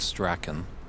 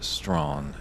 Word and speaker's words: Strachan: Nationals up at Ox a couple of years ago, and it looks like you would pronounce it Strachan. Yeah. Just the way it's spelled, but in fact it is Strawn, and that is from Mr.